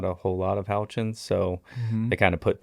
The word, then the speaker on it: Houchin: But no, it punches, and it sounds exactly like it's spelled, which is helpful for a last name. Well, see, most people say Houchin.